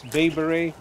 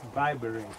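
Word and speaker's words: Bai Bureh: I've always called this Vibere, and she told me about a month ago, no, it's Vibere, so now I'm saying it right.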